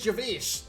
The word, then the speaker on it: Gervais: By the way, do you guys know his name is Gervais? Like Ricky Gervais.